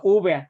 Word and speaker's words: úvea: Dijo, ¿coroides o uvea se pronuncia así? Coroides o úvea, justo.